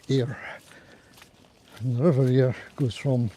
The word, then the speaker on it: Ayr: It's a y r is how it's spelled. Air.